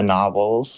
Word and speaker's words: Gnarwhals: this band called the Gnarwhals, which anyone is welcome to look up. It's like GNARWHALS. The unicorn dugongs. Yeah, but with a silent G because it was like